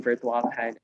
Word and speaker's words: Virtualahan: because we've made some history in the social enterprise space, in Philippines on the map, using Virtualahan. So it's pronounced Virtualahan.